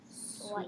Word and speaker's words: swipe: Side, Swipe. swipe. Good job. 2. It's okay. Okay. So the I is long. It's followed by a consonant, and the E is silent.